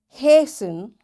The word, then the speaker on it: hasten: castle often whistle soften hasten bustle and gourmet. There are different words but in all these words T is silent.